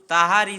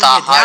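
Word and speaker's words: তাহারি: आमी पहले लिखिए, सुनिए ताहारी ध्यान से सुनिए। ताहारी मैं बोल रहा हूँ, ताहार नहीं बोल रहा हूँ।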